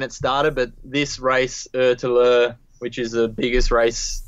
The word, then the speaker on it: ÖtillÖ: ÖtillÖ, is that how you pronounce it? Yeah, so it's ÖtillÖ, which is island to island in Swedish.